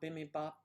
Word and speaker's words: bibimbap: Bimbap, bibimbap, bimbap? Do you guys like that? I forget how to say it. I always say bimbap, but there's an extra syllable in there.